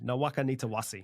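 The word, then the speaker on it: Nawaqanitawase: Nawakanitawasi.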